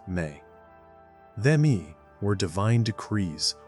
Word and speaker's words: me: His legacy is tied to one of the most fascinating and mysterious concepts in all of Sumerian thought: the sacred Emi, pronounced Me.